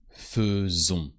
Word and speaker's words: faisons: This one is also an exception because AI sounds E only with nous. Nous faisons.